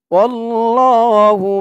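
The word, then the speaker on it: الله: লাম জবর ওয়াল লাম খারা জবর ল ওয়াল্লাহ আল্লাহ শব্দের লামটা ল উচ্চারণ হবে ল আল্লাহ শব্দের ডাইনে জবর অথবা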